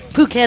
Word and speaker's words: Phuket: Phuket, of course, pronounced Phuket.